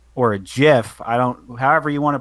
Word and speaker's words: GIF: just respond with a GIF or a GIF. However you want to pronounce it. Oh, I'm Either hard way. G all the way. Huh? I'm hard G all the way.